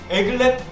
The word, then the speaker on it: aglet: Aglet? Correct! The correct pronunciation is aglet, Aglet?